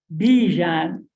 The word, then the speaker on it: Bijan: Bijan, and after 43 years, somebody taught me, tell them to think of the Dijon mustard. Then they would be able to say it.